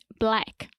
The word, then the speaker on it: black: pronunciation recommendation yes sir when we say the word black or blackout the a sound is very open and to the front black yeah so imagine the